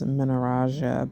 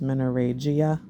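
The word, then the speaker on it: menorrhagia: videos of like the I've always mispronounced it as minaraja but it's menoregia that's something that I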